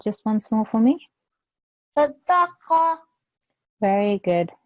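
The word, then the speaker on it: صدقة: Sadaqa. Very good. It was just the qa sound that I wanted to make sure you pronounce by your throat.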